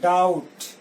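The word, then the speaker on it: doubt: संदेह करना क्या होता है, डाउट। यहाँ बी साइलेंट होता है, इसको डाउट नहीं पढ़ेंगे, डाउट पढ़ेंगे।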